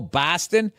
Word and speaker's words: Boston: Boston and they go oh Boston it's like that's how people from the Midwest say it right so BOS becomes b a w b like saw right say job is say